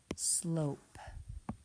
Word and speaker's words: slope: So that silent E is making that vowel say its name O, S-L-O-P, slope.